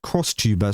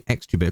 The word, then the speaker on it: XTuber: Pronounced crosstuber, so it's not actually XTuber, crosstuber.